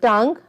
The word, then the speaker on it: tongue: tongue. Yes. Where G is silent, tongue. In tongue, UE is silent.